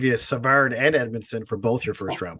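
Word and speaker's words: Edmundson: interesting you talk about Joel Edmondson yes I was going to say it rhymes with red medicine but yeah I had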